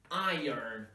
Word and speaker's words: iron: that's not the right sound you should say iron what happens here is kind of inversion of